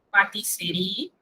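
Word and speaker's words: pâtisserie: Patisserie. Recuerden, cuando usted tiene dos S, se pronuncia una S. Pero cuando usted tiene una S, se pronuncia una Z.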